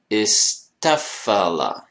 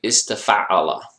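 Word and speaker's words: استفعل: So in this case, istafala, right? Istafala. So this one becomes an ending consonant. So remember that there is a sukoon here. If you remember this, your pronunciation is good. Don't say istafa'ala. That's a common beginner mistake, which of course you wouldn't want to make.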